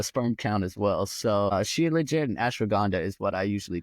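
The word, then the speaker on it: shilajit: it's s h i l a j t she legit it's a yeah I have okay now that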